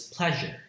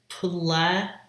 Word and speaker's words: pleasure: Pla, one syllable, and second syllable, jure. Pla, P-L, and then it's not pleasure, it's pleasure. That rhymes with in bat or in deck, pleasure. The second syllable, je, this is a fricative, not affricate, as in pleasure, usual, Asian, those words.